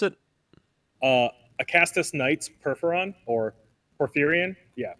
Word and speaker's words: Porphyrion: Uh, How do you so pronounce it? uh, Acastus Knights Perforon or Porphyrion, yeah, Porphyrion.